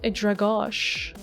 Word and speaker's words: Drago: By the way, Drago is supposed to be a Slavic name pronounced Dragosh.